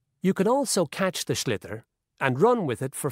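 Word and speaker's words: sliotar: This is what it looks like, and basically you have to get this ball, called a schlitter, that's S-L-I-O-T-A-R, so it's not spelt the way it's pronounced.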